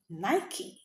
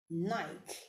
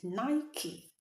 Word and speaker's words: Nike: The right pronunciation of that word is Nike. Nike. So you don't say Nike.